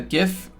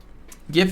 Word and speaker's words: GIF: We'll make a whole video about how GIF is pronounced as GIF with a J.